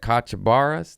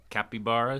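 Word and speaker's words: capybara: They had kachabaras. Those giant was that how you say it? Capiaras.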